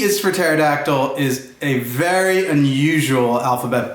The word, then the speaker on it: pterodactyl: words in the book all you have to do is drop that silent pesky first letter and sound out the rest of the word and you'll know exactly how it is pronounced so let's get started